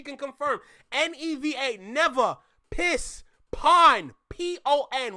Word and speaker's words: pon: Pon. P-O-N. When we say on, it's pon.